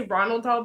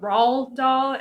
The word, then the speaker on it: Roald Dahl: And I'm not sure on how to pronounce I want to say Ronald Dahl, but it's obviously not because there's no N. But Roald Dahl, and because I know